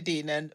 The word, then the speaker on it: Deignan: Deignan, pleasure to be here with you, ladies. With the silent G. With a silent G. The silent G. Like thought.